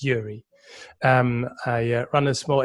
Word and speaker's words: Joeri: each other sure so my name is yuri it's full i'm full-time dutch have a russian name but i'm dutch we spell it j-o-e-r-i it's a funny way of spelling it it's yuri um i run a